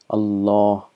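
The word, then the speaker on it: الله: Aleph is actually committed it's a law it's pronounced as a law distant as Allah The Aleph is omitted and this is how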